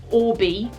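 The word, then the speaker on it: Oribe: This is Orbi, is how it's pronounced.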